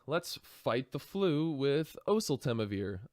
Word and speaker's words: oseltamivir: hello everybody let's fight the flu with oseltamivir oseltamivir oh so Tama vir oasl Tama beer that's how you pronounce it um which is number five on